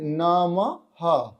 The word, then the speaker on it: নমঃ: রয়েছে নমঃ সেটা হচ্ছে নমহ বিসর্গটা জায়গায় একটা হ এর উচ্চারণ আসবে তো এইভাবে যদি আপনারা